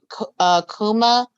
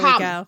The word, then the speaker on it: Kama: Kuma from, I'm probably saying his name wrong. I'm pretty sure I'm saying it wrong. And Fantastic Beasts. Yusuf Kama? Yeah, there Kama.